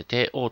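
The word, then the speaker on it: 底王: 底辺の王と書いて、底王と読む、新底王です。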